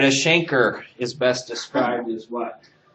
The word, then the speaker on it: chancre: All right, a chancre is best described as what? Oh, yeah. Also called a canker. You hear it with a hard C too.